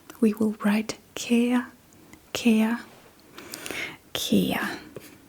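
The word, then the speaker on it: kære: For example, when we start a letter, we will write ka ka ka.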